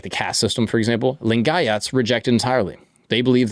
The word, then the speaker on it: Lingayats: His followers, the Lingats, I hope I'm pronouncing that correctly. Correct me if I'm wrong. Lingayats. The Lingayats. I like Lingayats built a